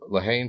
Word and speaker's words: Haine: Some people call it something weird like I don't remember what they pronounce it, but in the movie they say Haine, so yeah, I'm just gonna call it Haine.